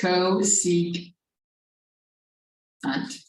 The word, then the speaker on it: cosecant: yeah good okay so there are three new functions they are pronounced cosecant or red as cosecant Co C can't this is not really how it sounds let's do this Co seek hunt through secant cosecant then there's secant and